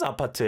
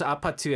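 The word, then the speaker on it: 아파트: Like people are like, "What is Apatu anyways?" And then they learned about, oh, it's how Koreans pronounce apartment.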